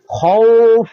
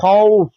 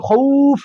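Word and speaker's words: خَوْف: এখানে লিনের হরফ আসছে খউফ এটা হবে খউফ এখানে আমরা অনেকে বলি খুফ কই খৌফ বললে এটা হয়ে যায় মদের হরফ এখানে বলতে হবে খউফ অর্থাৎ পিছের উচ্চারণ হবে না এখানে জবরের উচ্চারণ হবে তো প্রিয় দর্শক আপনারা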